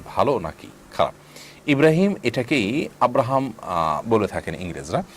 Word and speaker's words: ইব্রাহিম: নিয়ত থাকে এটার কোন সমাজে আপনি আছেন সেখানে ইব্রাহিমকে মানুষ আব্রাহাম বলে তাহলে সেটি জায়েজ হতে পারে কিন্তু আপনি যখন এটার শুদ্ধ উচ্চারণ ইব্রাহিম কোরআন কারীমের আয়াত আপনি জানেন তাহলে সেক্ষেত্রে এটাকে পরিবর্তন করে আপনি আব্রাহাম রাখবেন না বরং আব্রাহামটাকে আপনি যেটি রেখেছেন এটাকে